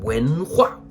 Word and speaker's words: 文化: The second and fourth tone. 文化, 文化, like a roller coaster.